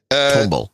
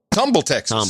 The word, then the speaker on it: Tomball: I don't know tomble Tomball how do you pronounce that you're a Texan tumble tumble tble tumble Tumble Texas T tumble uh 130